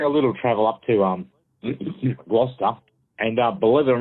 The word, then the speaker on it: Gloucester: It's an area on Gloucester? How do you say that? Gloucester. Gloucester? Gloucester. It's like Worcestershire. Worcestershire sauce.